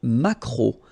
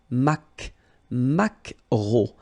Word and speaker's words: maquereau: pronounced, t, la truite, le maquereau. So technically this k, just pronounce it k, maquereau, maquereau. Alright? And then E-A-U, remember when you combine these three vowels, you get the sound O, maquereau.